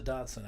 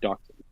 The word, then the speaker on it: Dachshund: That, yeah, the German pronunciation is dachshund, Dachshund. Whatever. with more phlegm than I have available at the moment.